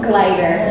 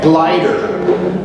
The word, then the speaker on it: Gleiter: First one is, and could you pronounce your last name? Gleiter. Gleiter.